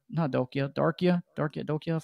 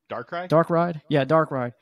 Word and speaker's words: Darkrai: legendaries and to get Darkia from Diamond Pearl, the Shadow Legendary. I feel like I'm saying his name wrong. Darkrai.